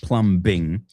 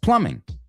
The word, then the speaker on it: plumbing: La B es muda. It's not plumbing. It's plumbing.